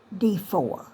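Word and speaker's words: Defour: was Lesley D4 and you spell it d e f o u r D4 that's how she pronounced it too her name was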